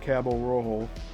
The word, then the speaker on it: Cabo Rojo: And then on the south coast, just below Cabo Rojo, that's spelled Caborojo, there's another UFO sighting.